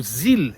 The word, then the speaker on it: Zelle: Nos Estados Unidos nós temos o Zelle, ou Zelle, se escreve Z-E-L-L-E, tá?